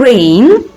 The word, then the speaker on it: reign: restore to succeed to reign be careful the g is not pronounced is a silent letter terrain to propose and